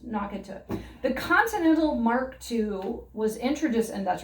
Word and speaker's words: Mark II: i mean nope and it's spelled where you want to say marky but you know that's gotten me a few times so this the mark ii is just an exquisitely